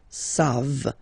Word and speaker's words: savent: E-N-T, you don't pronounce it, so you get the sound savent, v-v-v-v, savent, okay? Ils savent, elles savent.